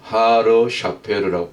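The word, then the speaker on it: הר שפר: 히브리어 발음으로는 하르 샤페르라고 그러죠.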